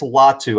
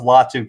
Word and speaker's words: Latu: And Cameron, I believe it's Latu. I've heard the announcer say it like 3-4 different ways. I'm going to go with Latu.